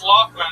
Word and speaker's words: Lothman: Yeah, it's Lothman, but yeah, it's spelled. But it's spelled like Laughman.